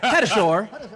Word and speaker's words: Tatasciore: It's Fred Tatasciore. Fred Tatasciore.